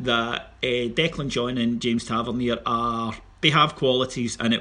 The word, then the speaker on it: Tavernier: Maybe think about playing three at the back and trying to push Tavernier. Sorry, well done. Let me pronounce that correctly. Tavernier and Jack up, as